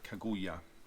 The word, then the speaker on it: Kaguya: Kaguya. That's how they pronounce it in the film.